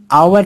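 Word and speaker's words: hour: after lunch यह में आवर के आगे जी हां sparing H ओ यू आर है इसे हम आवर पड़ते हैं आवर इसका उच्चारण वूल से हो रहा है इसलिए इसके आगे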